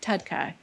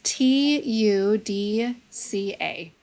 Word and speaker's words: TUDCA: lot of great products on the market like Tudca for example that actually helps to open up drainage. It helps to get the bile moving in the body. spell that? It's T U D C A.